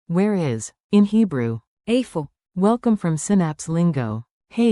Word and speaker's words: איפה: Today's magic phrase, where is, which in Hebrew is, Afo.